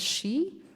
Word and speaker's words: Xi: the next one is x i is pronounced as she so it when it's in putting names it's called Xiang the first one second